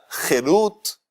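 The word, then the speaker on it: חֵרוּת: La misma palabra jarut, si se la pronuncia jerut, en vez de jarut se dice jerut, eso significa libertad.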